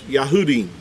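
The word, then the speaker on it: יהודים: Or he would, if it's a group of Jews, they would be pronounced as Yahudim. Yahudim is how you would refer to them.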